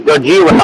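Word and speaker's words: ゴジラ: Um you can say his name right is Gojira.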